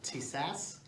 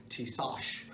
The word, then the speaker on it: Tisas: Today we're going to be talking about a 1911, which the pronunciation, there's some people that call it a Tisas, but if you listen to the manufacturer's promotion video, it'll actually say Tisas.